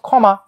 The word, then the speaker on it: ক্ষমা: এর মত উচ্চারণ হয় কিন্তু শুরুতে থাকলে সেটা খ এর মত উচ্চারণ হয় যেমন আমরা যদি বলি সাপোজ ক্ষমা ক্ষমার উচ্চারণটা কি ক্ষমার